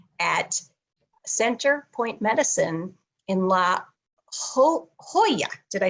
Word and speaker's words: La Jolla: And he provides hypnosis, also counseling services at Center Point Medicine in La Jolla.